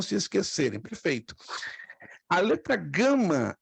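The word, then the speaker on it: γάμμα: perfeito a letra Gama ela tem dois sons hum preste atenção isso aqui pode pegar ela pode ter o som de G ó ga ou gua ga gua como por exemplo gato e Uruguai ou caro como está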